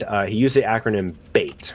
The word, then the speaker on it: BEIT: b e i t bait is how we pronounce it because they're baiting you uh but the first